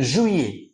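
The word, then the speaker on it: juillet: জুলাইয়ের ফরাসি হচ্ছে জুইয়ে, জুই এ, জুইয়ে, জুইয়ে, জুইয়ে।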